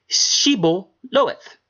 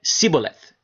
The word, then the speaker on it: Shibboleth: If he said, nay, they said unto him, say Shibboleth, say Shibboleth, right? And he said, Sibboleth, for he could not frame to pronounce it right.